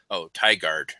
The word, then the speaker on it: Tigard: I mean, I'm just guessing, but Tigard is how it's said.